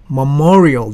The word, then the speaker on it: Memorial: 이 발음은 뭐뭐 여기에 강세가 있어요. 그래서 Memorial Day weekend 그렇게 하는 것입니다.